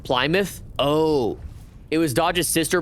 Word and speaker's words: Plymouth: Plymouth is pronounced Plymouth.